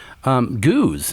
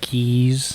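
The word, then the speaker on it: gueuze: beer Goose so not keys right I thought geese gays yes g-o-oz is the closest way I would say how to pronounce it okay a Goose goose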